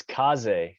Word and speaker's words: Kaze: got an awesome guest today uh is it kaze how do you pronounce it yeah it's it's kaze so okay that's appreciate it thanks for having